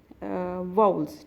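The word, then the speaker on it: vowels: वाउल्स कहते हैं और आप लोग उसको गलत प्रोनाउंस करते हैं आप वावल कहते हैं ठीक है एक्चुअली जो इसकी प्रोनंसिएशन है करेक्ट प्रोनंसिएशन है अ जो इसका साउंड है है वो है वाउल्स ठीक है तो यह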